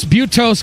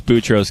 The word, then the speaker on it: Boutros: Tanner and Drew were attempting to pronounce the names of several UN secretaries. Butos, Brutos, Gali, Dag, Hammer, Scold, Butos, Gahali. Boutros, Gali.